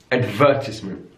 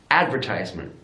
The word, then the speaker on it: advertisement: second syllable adult adult in British English advertisement advertisement stresses on the second syllable in American English advertisement advertisement so the stress is now on the first syllable also your notice stay with the is that changes from instead of advertisement its advertisement so that it becomes eyes rather than this this is a classic